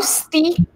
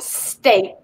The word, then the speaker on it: steak: So no steak, but steak. This is oftenly mispronounced.